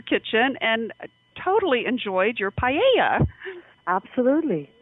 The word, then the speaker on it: paella: Paella. Yes, and I was so delighted to see, Marimar, that Prince Felipe visited your vineyard and visited your kitchen and totally enjoyed your paella.